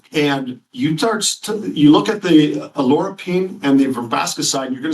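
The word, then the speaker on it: oleuropein: Now, the olive leaf extract has something called alorapine. And although it's pronounced different ways, so if you hear it, alorapine is how we're pronouncing it.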